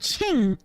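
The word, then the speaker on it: Qing: Shin y Ming and Ching or ching King Dynasty or Shing yeah Shing Dynasty Shing sh because uh because Q is more she or she kind of a kind of a pronunciation bits and pieces um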